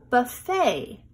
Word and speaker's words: buffet: This comes from another language, so we pronounce it differently. Buffet.